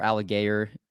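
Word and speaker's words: Allgeier: couple i have you know uh tyler tyler alligator or how you say his name alex um tyler algiere algier thank you from byu see i'm learning how to pronounce all the names i know it's bad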